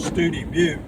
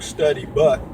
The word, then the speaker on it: Study Butte: If you come from Alpine on 118, you'll come in through a little town called Studi Butte. A lot of people, it looks like Study Butte, but they pronounce it Studi Butte.